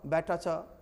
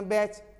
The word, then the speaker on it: batch: यहां पर देख रहा हूं ना, टी के बाद आया है ना CH, ठीक ना, तो टी का साइलेंट उच्चारण होगा इन बैट च, बी से बै, टी से ट और सी से च, बैट च नहीं, सीधे बोलेंगे बैच।